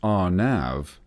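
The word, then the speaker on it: RNAV: RN av area navigation or our nav pronounced our nav is a navigational process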